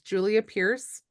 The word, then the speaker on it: Julia Pearce: And so just double checking that it's Julia Pearce.